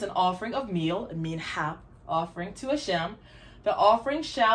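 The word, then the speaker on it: מנחה: I've heard it said a mincha, but it makes more sense when the het is pronounced like different from the chaf or kaf. So I say the way I was taught, mincha. So the mincha offering.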